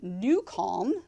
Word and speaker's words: NuCalm: bushy-tailed, as they say, is because we use New Calm, which is an amazing app. It's spelled NUCALM.